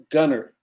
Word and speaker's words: Gunter: Gunner. Sorry, did there I pronounce it? I got to work on you about that. I got to work on you about that. One day I'll learn. One day. Get that T out of there.